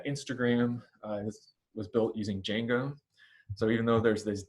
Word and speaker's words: Django: is was built using django so even though there's this d out front that d is silent you just pronounce this as django like it started with the j and uh at the